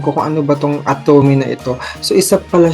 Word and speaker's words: Atome: Atome is pronounced Atome and stands for available to me.